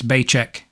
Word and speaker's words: Baicheck: name right baicheck rhymes with paycheck can't be bad the